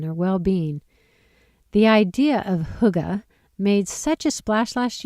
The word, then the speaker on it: Hygge: Spelled Hygge and pronounced Hygge, the word is said to have no direct translation in English.